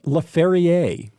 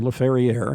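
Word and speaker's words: Laferriere: on the ice right-wing Alex lefer or lafier he probably pronounces it lafier uh leads the team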